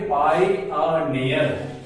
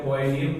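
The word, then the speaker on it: pioneer: पायोनियर में चार vowel letter है, इसका चार सिलेबल बनेगा PI पाई आ नी अर। इसका उच्चारण बड़ा बढ़िया से मैं लिख देता हूं पाई आ नी अर, पाई आ नियर।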